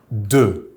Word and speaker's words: deux: The number for 2 is deux, spelled D-E-U-X. The X at the end is silent.